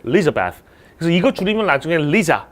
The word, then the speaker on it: Elizabeth: 영어라는 게 강세가 중요해요. 어디를 강하게 읽느냐. 강하게 읽으면 또렷하게 들리고 강하게 읽지 않으면 발음도 죽어버립니다. 그렇게 발음이 죽는 것, 또렷한 거의 차이점도 그 영어를 이루는 요소입니다. 그래서 얘는 이 L자 뒤에 있는 I의 강세라는 게 있어서 Elizabeth 아예 앞을 버리고 Elizabeth라고 읽으면 알아듣습니다.